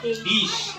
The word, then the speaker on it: this: আসলে এটা উচ্চারণ দিস হবে না, কি হবে? ডিশ।